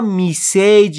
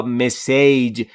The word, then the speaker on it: message: خیلی ها میسیج یا مسیج یا مسیج یه همچین تلفظهایی رو بیان می کنند. بسیاری از زبان آموزا اشتباه تلفظ می کنند. اما تلفظ درست مسیج.